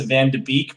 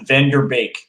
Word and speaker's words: van de Beek: do you say it so a lot of people are going to pronounce the van de beek but i think they get the correct set is van der beek okay so vanderbik um